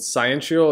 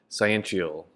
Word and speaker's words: sciential: And sciential, it's spelled like science, but instead of the C and the E at the end of the word, it's T-I-A-L, sciential.